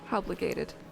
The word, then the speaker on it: obligated: There's no R, it's gated. Obligated. Okay. I was pronouncing it with an R?